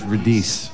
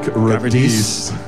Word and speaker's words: Radice: It's Radice. Oh, that's right. Radice. The rhymes with release or police or...